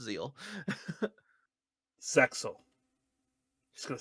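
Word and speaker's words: ZEXAL: Or Zexel, if you guys want to pronounce the X, but I've been corrected violently that it's Zeal.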